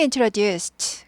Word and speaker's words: introduced: She introduced 그녀는 소개해줬어요. introduce 소개하다 트 발음 나죠. introduce가 무성음이기 때문에 트 발음이 나요. introduced 트 발음이 납니다.